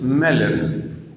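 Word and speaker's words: Möller: En esto hay un autor, ahora se me olvidó el nombre, el apellido es Meller, M-O-L-L-E-R, la O con diéresis, Meller.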